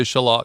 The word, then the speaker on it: shallot: Well, when you when in Rome in in London, you would say shalot.